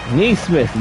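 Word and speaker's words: Nesmith: Neesmith, yes, that is how it's pronounced.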